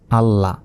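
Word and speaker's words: الله: তাহলে দুইবার কীভাবে উচ্চারণ করব? বলতে হবে হামজা লাম জবর আল, লাম জবর লা, আল্লাহ।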